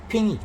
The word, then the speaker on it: 瓶: 핑이죠. 핑. 발음이 이제 핑인 거죠. 한국어하고 똑같은 거예요. 너무 쉽죠.